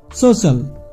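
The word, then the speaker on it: social: বা ই এ থাকে তবে সেক্ষেত্রে সি এর উচ্চারণ তালবস এর মত হবে যেমন সোশ্যাল এস ও সি আই এল সোশ্যাল মানে সামাজিক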